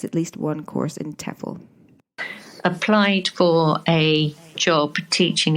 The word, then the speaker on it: TEFL: a tefl course so what's a tefl course t-e-f-l pronounced tefl for short is stands for teaching English